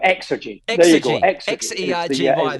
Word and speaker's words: Xergy: James McCallum, the co-founder and CEO of Energy. I've got it right. How do you pronounce it? Xergy? No, great. So you pronounce the X strong. Xergy.